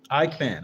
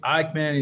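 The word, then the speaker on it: Eichmann: Let me take a look at how do you pronounce this German name in English. Ikeman.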